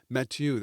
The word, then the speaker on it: Mathieu: Mathieu. That's how you pronounce it.